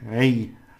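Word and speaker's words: rey: a or in English e and i e and y a r all right Ray Raina and the ray that's queen and king Raina Ray the SP he's called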